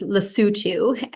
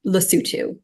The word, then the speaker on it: Lesotho: So we would pronounce it as Lesotho. That's not perfect either. There is a slightly different way that in the local language, which is Sesotho, that it would come across. But yes, we would say Lesotho.